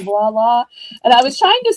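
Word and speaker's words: voilà: And she had to spell it V I O L A. And she's like, it looks like viola, but it sounds like voila.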